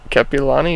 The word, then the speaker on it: Kapiolani: How do you pronounce Kapiolani? Kapiolani, yeah.